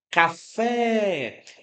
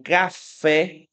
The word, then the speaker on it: café: Você percebe que café, esse fé é a sílaba que mais se prolonga, é a sílaba de pronúncia mais forte. Então vou aproveitar aqui já o primeiro exemplo, né, para mostrar a vocês o seguinte. em café. A sílaba tônica é a última.